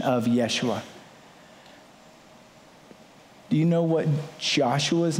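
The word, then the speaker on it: ישוע: It comes from the Greek pronunciation of Yeshua.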